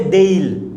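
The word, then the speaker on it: they'll: दे will को क्या बोलेंगे? देल, ओके देल।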